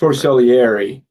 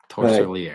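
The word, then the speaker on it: Torsilieri: It's called the Torsorelli. Is that pronounced? Torcellieri. Torcellieri.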